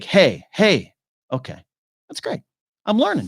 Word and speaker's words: Hej: You can pronounce Hej like hey.